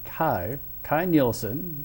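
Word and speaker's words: Kay Nielsen: This was illustrated by, I believe his name is pronounced Kai Nielsen.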